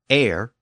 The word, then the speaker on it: heir: The letter H became a silent letter, and it's still silent in modern French.